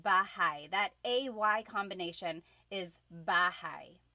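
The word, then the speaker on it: bahay: Okay, so house in Tagalog is bahigh. Bahai. Try saying that with me. Bahai. Bahai. You might notice that the spelling is a y at the end.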